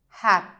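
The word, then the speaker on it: hạt: Second one we have hat. Hat. Same principle. Do not sound it out, just shape the T.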